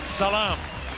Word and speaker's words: Saglam: Jakob the Scorpion saga he pronounced it without the G Salaam German heavyweight gym Jakob